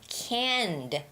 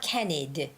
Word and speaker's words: canned: And then the word canned, canned food. You know, tuna cans, Spam, those are canned food. It's not canned-ed, it's not canned-ed, it's canned food, canned food.